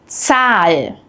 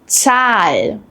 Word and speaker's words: Zahl: But in German, Z is completely different. It's pronounced like a ts sound, as in cats.